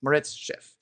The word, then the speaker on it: Moritz Schiff: don't know m o r oh no moritz moritz schiff and so so he was measuring you know